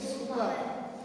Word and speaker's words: super: Super. इट्स सुपर। आर is silent. यहाँ पे are silent रहता है, आर इज नॉट स्पोकन, तो इट्स सुपर।